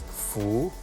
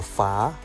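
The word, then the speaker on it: 福: it symbolizes a slack they pronounce it as Fu or fa Fu or fa means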